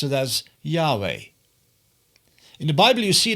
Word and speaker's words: Yahweh: In English we pronounce it as Yahweh.